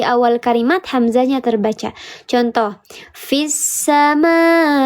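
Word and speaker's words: في السماء: Contoh, fissama. Fissa dibacanya bukan fi'as sama, tapi fissa.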